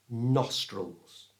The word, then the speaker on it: nostrils: The second part, trulls, we're going to change the I for the schwa sound.